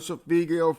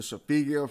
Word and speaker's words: solfeggio: on your phone, you can program these certain Sophigio frequencies to do what they're supposed to do and tune your body into the healing that you need to continue to grow. So once again, the Sophigio frequencies, Sophigio, for those that want to Google and learn